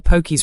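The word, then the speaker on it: pokies: You'd hear the poky's room was packed on Friday night. And just remember the long o sound like poke with an e at the end.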